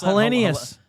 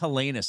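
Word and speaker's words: Helenius: Oh, that's Hellenius. I think it's just Hellenis. I think I said it wrong. I was talking about him going into the crease a couple days ago. Oh, okay. I think it's just a Hellenis. I don't think there's an I in it.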